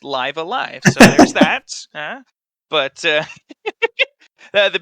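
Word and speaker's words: Live A Live: had live alive and now we know for sure it's pronounced live alive so there's that but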